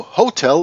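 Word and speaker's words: hôtel: the, and hotel, but the French do not pronunciate the H when it is in the beginning of a word. So hotel becomes hotel, and because the le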